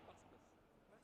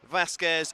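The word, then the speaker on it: Vásquez: Vasquez. No, yeah, Vasquez. Vasquez. It's not Vasquez. Vasquez. But with an accent on the A.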